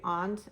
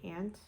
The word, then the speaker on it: aunt: do that I say aunt and not and northern Maine you don't say ant you say Aunt so when I moved